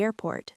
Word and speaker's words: airport: I need a taxi to the airport. Deep dive. Airport. Stress the air.